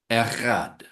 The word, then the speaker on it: echad: Well, because in Hebrew, the word for one is echad. It's a beautiful Hebrew word. You get your throat into it, echad.